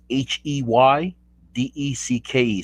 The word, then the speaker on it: Heydecke: Last name is Heydecke. So it's like hey, like I build on a deck, E. So but you pronounce this Heydecke. Oh, okay, Heydecke.